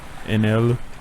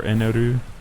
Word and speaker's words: Enel: I still think the English pronunciation of Inaru sounds really weird compared to like Anel, which they could have used. Yeah, because the R and the L are pronounced the same way, so you could have done Enel or Eneru.